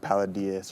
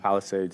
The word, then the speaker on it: Palisades: bikes around whatever the town of paladas or whatever how you ever pronounce it Palisades yeah Palisades and yeah and it's not